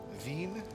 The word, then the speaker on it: Wien: Vin, how it's pronounced in uh, German.